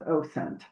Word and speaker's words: OSINT: OSINT, I say it's OSINT.